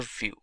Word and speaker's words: Vue: complete web application solution view. GS is commonly referred to as View and pronounced as vuejs or view is rightly so now why should